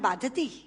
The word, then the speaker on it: बाधते: कष्ट दे रहा है, क्योंकि बाधती शब्द का अशुद्ध उच्चारण आपने किया है। ये शब्द बाधते होना चाहिए। भारम न बाधती राजन यथा बाधती बाधते।